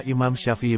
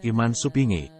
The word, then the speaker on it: Imam Syafi'i: Pelafalan nama Imam Syafi'i menjadi Iman Supingi, karena menyesuaikan dengan lidah orang Jawa kala itu.